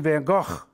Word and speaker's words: van Gogh: was born in Antwerp she says to say it like this Vincent van Gogh and she coughs as she says it van Gogh van Gogh but Miss cook says van Gogh we are March single